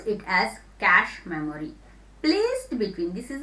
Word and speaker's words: cache: Pronounce it as cache memory.